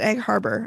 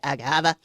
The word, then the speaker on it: Egg Harbor: I was very upset when he pronounced it Egg Harbor. I'm like, come on. Come on, Steve. You know how to say Egg Haba.